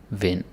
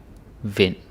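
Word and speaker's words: vind: So this is uh I in D you can say in in sin kin vin. Yeah the d is silent. Sin kin vin.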